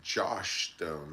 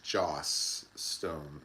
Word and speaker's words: Joss Stone: It's not Josh Stone, it's Joss Stone, and I can't remember the song she sang, but she was very good.